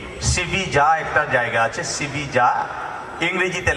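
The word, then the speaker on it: Sevilla: অতিক্রম করার পর আমরা জিজ্ঞেস করছি যে ইংরেজিতে জিজ্ঞেস করছি যে সিবিজা একটা জায়গা আছে, সিবিজা ইংরেজিতে লেখা, ইংরেজি অ্যালফাবেটে আমরা দেখেছি না জায়গাটা সিভিলি এল আছে, কিন্তু স্পেনে এটাকে সিবিজা বলে, সিভিলি বলে না।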